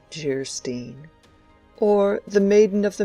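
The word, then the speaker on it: Geierstein: offering it for sale anne of geistein pronounced gerstein or the maiden of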